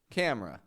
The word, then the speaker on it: camera: here camera cam ra camera again I'm dropping the E from this word camera I'm not saying camera